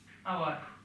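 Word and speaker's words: hour: আবার যদি এইচের উচ্চারণ হয়ের মতো না হয়, অয়ের মতো হয়, তখন এন বসে। যেমন এন আওয়ার, N honest man.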